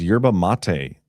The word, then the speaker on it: yerba mate: Miriam 44 says yerba mate is the correct pronunciation.